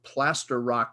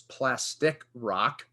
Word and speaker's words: Plaster Rock: one that i made i pronounced the town of plaster rock new brunswick as plastic rock and uh when evan